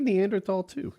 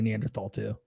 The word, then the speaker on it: Neanderthal: I've always said it it's supposed to be Neanderthal but they shouldn't have thrown that H in there if they wanted people to say it right that's how that's how